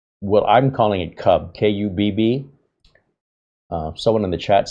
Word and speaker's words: Kubb: And it's not cube and it's not cub. It's Kubb, like tube, Kubb.